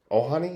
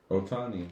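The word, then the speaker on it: Ohtani: Ohani or Tahani? Otani.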